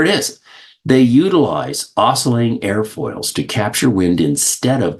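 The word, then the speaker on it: aerofoils: in this case it's spelled a e r o f o i LS pronounced air foils and when I was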